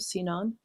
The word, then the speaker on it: Sinan: visiting Istanbul, I encountered all the architecture of Sinan. Is that how it's pronounced?